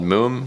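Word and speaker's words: Múm: I went in an interesting direction with the lead on the drop because I'm a fan of this band called Moom, which is spelled M-U-M, and they use that kind of repeated pattern stuff on a lot of their tracks.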